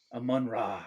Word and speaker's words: Amon-Ra: Amon-Ra.